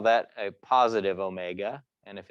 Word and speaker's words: omega: And analogously to velocity, angular velocity, which is this, you know, lowercase omega, looks like a curly W, but we pronounce it omega, tells us how fast the object is spinning.